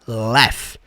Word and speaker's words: laugh: E sim, essa palavra aí que se escreve laug, você vai falar laugh.